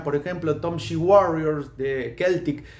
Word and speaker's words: Celtic: ejemplo, Tom Warriors de Keltic. Yo le decía Celtic Frost, pero se dice Keltic. Me parece bizarro decir Keltic, pero bueno, se pronuncia Keltic Frost.